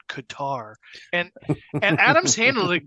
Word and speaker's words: Qatar: the one of the things they said about Qatar or Qatar um but did you see that